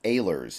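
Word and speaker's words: Ahlers: right now Holton aylers apparently it's aylers is how you pronounce it has been added to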